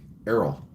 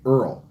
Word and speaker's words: Errol: I was told today that I pronounced it Earl. But I don't say Earl, I said Errol. But I don't pronounce the same way South Africans do, so some South Africans didn't hear me say Earl when they thought I was saying Earl. Earl is different than Errol.